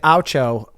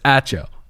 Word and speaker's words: Acho: I thought it was interesting that Aucho referred to... We can't get his name wrong because that's too big a target. I can't pronounce people's names. It's Acho.